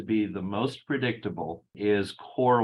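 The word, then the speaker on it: KöR: the most predictable is core whitening is spelled k-o-k-o-r and it it is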